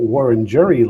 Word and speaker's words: Wurundjeri: I'm coming to you from Wurundjeri land, or Wurundjeri land, as I think it should be pronounced, in the Kulin Nation, otherwise known as Melbourne, Victoria, Australia.